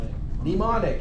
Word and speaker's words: mnemonic: instruction it's called a starts with the pronunciation starts with an N but the spelling starts with an annual a mnemonic very good ok that's the